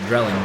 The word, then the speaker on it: Dreiling: It's pronounced Drelling, though, officially.